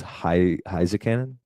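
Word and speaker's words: Heiskanen: It's Heisekanen.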